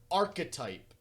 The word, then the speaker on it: archetype: you this is it arc type or archetype archetype how positive but are you positive if you pronounce the e in archetype we have problems like like well it's